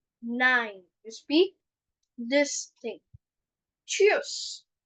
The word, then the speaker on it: tschüss: Cheers. So don't say tschüss. Don't say tschüss. Say cheers. Cheers.